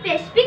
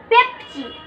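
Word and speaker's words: Pepsi: সত্যি সেইটা কিনে দেবো ঠিক করে উচ্চারণ কর আগে কেন পেশ পি তুই উচ্চারণটা তো ঠিক করে কর পড় ওটাকে কি লেখা আছে পি ই পি পেপ এস আই সি পেপসি পে হ্যাঁ পেপসি ঠিক আছে এইবার সঠিক উচ্চারণ করেছিস ঠিক আছে তুই পেপসি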